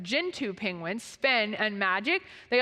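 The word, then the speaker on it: Gentoo: recently down in Australia with um gin I'll pronounce it right gintu Penguins Spen and Magic they also hatched an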